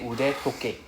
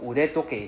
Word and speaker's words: 腕時計: We have to change the 時計 to the D sound, 時計. So in Japanese it's normal. So we change the sound of T to D whenever it is like inside another word.